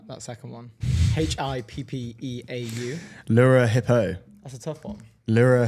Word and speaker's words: Hippeau: Yeah, I can't pronounce that second one. HIPPEAU. Lura Hippo.